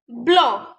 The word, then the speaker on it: blanc: Let's see the exception. Estoma, estoma. Taba, taba. Bon, bon. Blanc, blanc. These are the exceptions of letter C. Here we are not pronouncing the letter C.